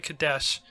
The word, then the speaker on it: Kadeshi: 2 needle ships housing the last of the Kadesh, or Kadeshi. No, it's Kadesh. I is silent.